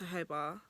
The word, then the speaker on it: jojoba: I'm like, no, jojoba. Then I had to start spelling it Jojo. They're like, oh, jojoba. And I'm like, it's pronounced jojoba.